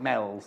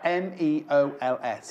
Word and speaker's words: Meols: I bet she lives in somewhere like Meols, or they call it Mells, don't they, or something like that. It's spelled M-E-O-L-S, and it's spelled, so it sounds like Meols, but they actually call it Mells.